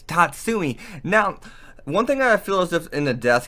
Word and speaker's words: Tatsumi: you tell but yeah I'm pretty sure I've been pronouncing it wrong the whole video anyways it's Tatsumi now one thing I